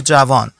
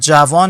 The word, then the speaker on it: جوان: For example, if you are using it about for a person, okay, it would be javan.